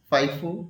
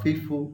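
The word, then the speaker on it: FIFO: এটাকে আমরা ফাইফো বা ফিফো উচ্চারণ করি।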